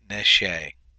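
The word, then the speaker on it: נְשֵׁי: And then your open unaccented syllable, the noon with the comments reduces to a simple shava, and you have neshe.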